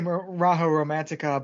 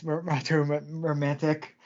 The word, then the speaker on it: Maho Romantic: I want to say Raho Romantica, but it's Maho Romantic.